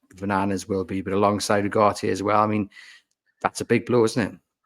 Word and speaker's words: Ugarte: Utage, as I pronounce it? Ugarte, sorry.